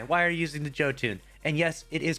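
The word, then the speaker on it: Jötunn: if you're using this shame on you why why are you using the joe tune and yes it is pronounced joe tune not yotune joe tune okay the number 10 most used weapon this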